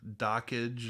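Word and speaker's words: Dockge: I suppose um uh dock dockage or he he says it's supposed to be pronounced like Dodge but I can't I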